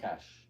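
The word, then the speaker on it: cache: we had CES C how do you say it cash cash that's she's Gyer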